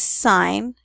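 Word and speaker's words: sine: be going over is sign you have to say it like it's a sign even though it's not spelled that way what we're going to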